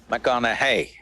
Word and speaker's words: McConaughey: the second name uh mcconnell hey rhymes with what would madonna say so so i